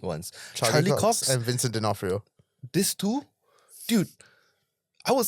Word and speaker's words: D'Onofrio: the O is silent, Yes. D'Onofrio, was so familiar.